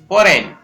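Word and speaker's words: foreign: क्योंकि GN साथ में है, वहां पर जी साइलेंट रहता है, ये ध्यान रखना है। नेक्स्ट है FO, पो, रे न, फोरेन।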